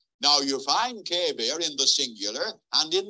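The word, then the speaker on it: qeber: a different Hebrew word in English lettering q-e-b-e-r pronounced kevir now you find Kabir in the singular and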